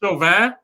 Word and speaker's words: Chauvin: Derek Chauvin, the cop that killed, murdered George Floyd. I mean, I said his name wrong at first. Honestly, it's a French name and it's pronounced Chauvin, but he's such a